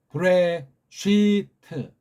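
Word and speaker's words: בראשית: 트 랍비 서양식으로 브레시트 요거 알프랑 요두 글자 소리 안 나는 대신 앞에 글자를 길게 발음해 주는 건 상식이겠죠 브레 식 아니고 브레 시트가 아니고 쉬트 브레 시트 그렇게 읽으면 조금 조금은 제가 근본은 아니지만 봐줄 수 있어 요거 예 알레프 자랑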